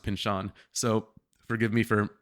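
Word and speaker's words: Pynchon: heard his name spoken so I always said Pinchin Pinchin Pinchin I started talking to people like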